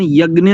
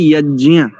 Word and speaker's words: यज्ञ: आप कैसा ठीक है इसका उच्चारण यज्ञ नहीं होता इसका शुद्ध उच्चारण होता है यज्ञ जय जकार य का और अकार इन तीन अक्षरों से मिलकर के एक संयुक्त वर्ण बनता जिसको हम बोलते हैं ज अब इसको कुछ लोग